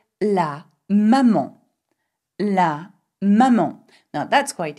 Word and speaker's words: maman: If you wanted to say my mommy, you would say ma maman. Ma maman. And remember, there is an N at the end of maman, you do not pronounce it.